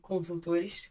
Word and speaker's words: Consultores: I'll translate to make it easier, but the name of the company is JD Consultores, então JD Consultores. That's how you say it in Portuguese.